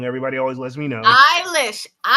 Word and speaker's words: Eilish: Eilish. Look, if it's then take the E off. Then take the E off. I'm tired of it being silent.